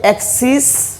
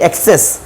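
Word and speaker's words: axes: ওকে, এখানে পার্থক্যের বিষয় হচ্ছে, দেখো এখানে জাস্ট আই আছে আর এখানে আমাদের ই আছে, ঠিক আছে? ই, বাট সাউন্ডের ক্ষেত্রে কিন্তু এখানে অ্যাক্সিস স উচ্চারণ হবে, এবং এটাকে আমরা অনেকে বলি অ্যাক্সেস। This is নট অ্যাক্সেস, এটা হবে অ্যাক্সিস, জাস্ট বর্গীয় যা উচ্চারিত হবে, ঠিক আছে?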